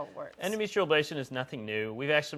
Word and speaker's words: endometrial ablation: Endometrial ablation. Am I saying it correctly? Endometrial ablation. Yes, okay. You are.